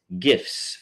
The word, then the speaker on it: GIF: 30 unique voters was gifts funny animated gifts gifts for your views and viewing satisfaction and yes that is the proper way to pronounce GIF is with a hard G um and uh that